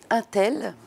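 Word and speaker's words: Hintel: Donc celui-ci s'appelle Les Fuyants, c'est l'histoire tragicomique, une espèce de tragicomédie ou de mini-saga familiale de la famille Intel, alors ça s'écrit avec un H, H-I-N-T-E-L, et c'est l'histoire de 4 hommes sur 3 générations qui ont la fâcheuse tendance de fuir.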